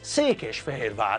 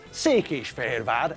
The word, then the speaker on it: Székesfehérvár: We know that Székesfehérvár is pronounced as Székesfehérvár, and it's not pronounced as Székesfehérvár or Székesfehérvár or Székesfehérvár or Székesfehérvár.